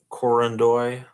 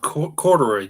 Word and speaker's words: corduroy: He was wearing a gray corduroy. It's called corduroy, Joe. Maybe you've heard of it. Yeah, I totally mispronounced that. Corduroy.